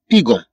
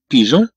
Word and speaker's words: pigeon: صوت ج والا بدون هاد او سننطق هنا بيغون سننطق الكلمه بيغون وهذا ليس هو النطق الذي نريده لكي يكون عندنا النطق بيجون نكتب جي ثم او ثم او ان إذن فتنطق بيجون.